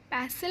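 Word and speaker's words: pestle: पैसल में T silent है, उसे हम मोटर एंड पैसल कहते हैं.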